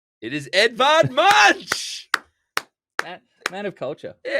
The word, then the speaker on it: Edvard Munch: Give me a It is Edvard Munch.